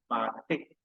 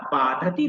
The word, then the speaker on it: बाधते: नाही यथा बाधती बाधते तू जे उच्चारण केलस बाधती हे चुकीचं उच्चारण जे आहे ते उच्चारण आम्हाला जास्त पीडा देत नाही कारण बाध हा जो धातू आहे तो आत्मने पदामध्ये आहे आणि त्यासाठी बाधते असा प्रयोग करायला पाहिजे पण तू राजा असून